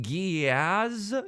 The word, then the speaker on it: Geass: But did you know that it's pronounced Giaz? Like, it kind of sounds like the A word.